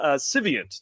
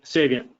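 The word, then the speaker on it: Saviynt: most recently at the chief trust officer for civant did I pronounce that right Jim civant uh Sav saviant saviant saviant my apologies and Michael's got 17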